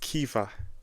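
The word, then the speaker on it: Caoimhe: It's pronounced Kiva. Kiva.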